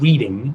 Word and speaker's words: Reading: Coast, you automatically know that that's Reading and not Reading, although it's like spelled like reading. It's Reading. My favorite is when you're driving up I-93 in the Boston area and you see the sign that says reading, no reading, but it's Reading, North Reading.